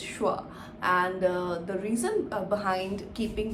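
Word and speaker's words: Schwa: How do you pronounce the name? Skewa? Squa? No, actually the name of the channel is Shwa, and the reason behind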